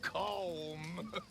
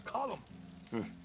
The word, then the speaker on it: Colm: Comb. It's column. In Ireland, we say column.